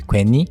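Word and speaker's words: 괜히: Number six is quenhe. That's the spelling and you pronounce it often as queni qui.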